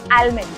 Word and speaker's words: almond: But again, the D, the L, it's supposed to be silent. It's not almond. हम बादाम को बोलते हैं ना, I like almonds. I like almond milk. It's not supposed to be almond. It's supposed to be almond. No D.